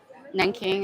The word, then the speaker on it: Nanking: Or it's Nanjing in Chinese, but it's pronounced Nanking in English.